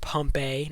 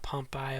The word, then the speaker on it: Pompeii: in question one pompe I think it's pronounced pompe not pompy okay I got it